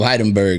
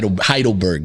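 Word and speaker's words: Heidelberg: Turkish yeah man uh uh former citizen of heidenberg you know what I'm saying heidleberg my bad I'm not familiar with the termin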